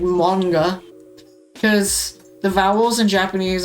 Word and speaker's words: manga: Like manga.